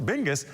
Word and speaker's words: BNGIS: Geographic information service center known as bngis pronounced bingus have been busy working